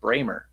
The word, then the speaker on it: Brammer: We all thought it was Brammer. Britton Gray, the CJME, posted that it's pronounced Bramer.